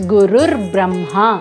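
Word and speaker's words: गुरुर्ब्रह्मा: it right gurur Brahma Guru Brahma when combined becomes gur Brahma similarly gur Vish gur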